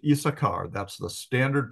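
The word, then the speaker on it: Issachar: one added on so in effect in the pronunciation there should be three s's is sasar uh but typically it's pronounced isachar that's the standard pronunciation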